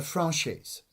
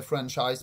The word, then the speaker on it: franchise: was something called a franchise okay so you can actually you can actually pronounce in various way okay various ways some say franchise but franchis is the the proper is is a correct pronunciation what is that what